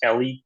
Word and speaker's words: Eli: um uh Eli is technically pronounced Ellie it's a Israeli name